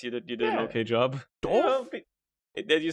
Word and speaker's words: doof: Doof? Did you say doof? Yes, that's how you pronounce that.